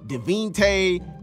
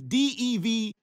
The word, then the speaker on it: Devonte: Like, I get that it's a lot of syllables, but dang, bro, I be seeing Devinte, Dante, Devote, Devinte. My nigga, it is Devonte.